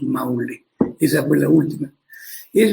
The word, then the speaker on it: Maule: Mauli, decían, pronunciaban en quechua. Ahora ya españolizado decimos Maule.